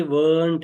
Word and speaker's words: weren't: देखिए ये जो है ये weren't है, weren't, और ये है want, तो थोड़ा सा फर्क है प्रोनाउंसिएशन में, weren't है, ये want